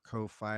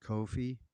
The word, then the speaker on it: Ko-fi: out on at our Ko-fi, and I I don't know if it's cough, like rhymes with coffee, like Kofi, but I say Ko-fi cuz it's rhymes with hi-fi, and I and this is definitely a hi-fi album.